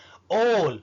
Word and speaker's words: all: الغريب انك ممكن تكتبها A وتنطقها O. ايه ده ممكن؟ ايوه ممكن، وهقول لك امثله اكيد كلكم عرفتوها. مفيش حد بيعرف انجليزي ايا كان مستواه الا ومرت عليه كلمه all A-double-L. all ما بنقولهاش آل ولا آل، لا ايه مفخمة